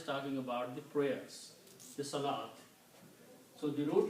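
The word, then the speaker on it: صلوة: way and it is written with an extra wow there which is not pronounced so this is also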